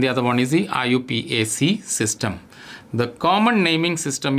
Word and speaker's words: IUPAC: Now the IUPAC system, IUPAC, which is pronounced as IUPAC, is a system which is very systematic.